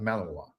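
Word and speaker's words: Malinois: It's called pronounced Malavoir.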